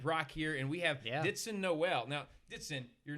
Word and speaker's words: Dithson: no no no it's ditson dixon d-i-t-h-s-o it's silent the h is silent all right but and